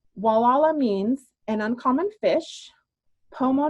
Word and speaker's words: Gualala: of local joke that they know you're a tourist if you pronounce it and so if you pronounce it properly you're a local walala so since we're on